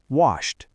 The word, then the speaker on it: washed: Think of the word wash ends in an unvoiced sh sound. Add a t. Washed.